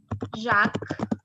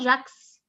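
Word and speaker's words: Jacques: examples here like um jack jack you actually spell it jacks okay but in french you do not pronounce the s it's only jack it's not jax no other name like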